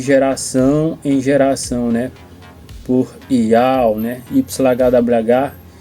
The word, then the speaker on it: Yauh: E a gente pronunciando a pronunciar até ial, que se escreve i a u h, né?